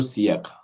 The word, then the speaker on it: siècle: Il y a 2 siècles. Siècle. Il y a 2 siècles. Centuries. Mm. Il y a 2 siècles. The E has a sound grave. The first E.